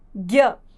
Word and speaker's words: ज्ञ: यहां ज जो है वो आधा है उसका उच्चारण जो होता है वो कम होता है ज और य बनता है ज्ञ यह है व्यंजन हमारा ज्ञ जो कि एक